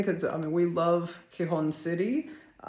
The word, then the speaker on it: Gijón: Anyway, but pronounced as best I can make it come out, Gijón.